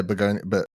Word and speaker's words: Bugonia: Am I pronouncing it correctly? Yeah, Bugonia, Bugonia, yeah.